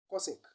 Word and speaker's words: cosecant: hypotenuse and the result is cosecant which is pronounced as cosec now example one find sine theta in the